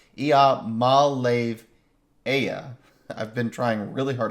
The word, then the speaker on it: Iamaleava: Ia is wrong, right? It's Iamaleava.